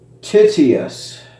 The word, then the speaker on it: Tityus: okay so tit yes let's see what the pronunciation is titius okay so yeah yeah it's it's tedious alrighty anyways uh these are the two knives